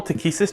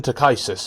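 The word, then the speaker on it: Takhisis: ] Christ you know what they call takisus teis why yeah it doesn't even it doesn't even read like takisus and the pronunciation guy specifically States takisus and I hear that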